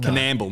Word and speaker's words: Coonamble: Coonamble. Is that how you say it? Canamble, mate.